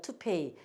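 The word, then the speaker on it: toupee: 그 사람들이 요거 쓰고 P는 피읍 쓰고 요것도 모음 두 개 있으니까 이라고 발음해야 되는데 이렇게 발음을 해요. to pay.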